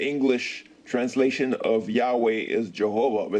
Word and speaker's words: Jehovah: And since he was a Catholic monk, they used to read in Latin, and he pronounced it Jehovah.